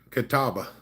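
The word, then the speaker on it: Catawba: I live in Kataba. It's uh it's Katawaba if you pronounce it the way it's spelled.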